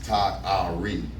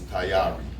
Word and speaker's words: Tayari: I mean, if you break it down in syllables, it's Ta-Ari. And if you say it, it's Tayari. It means ready or prepared in Swahili.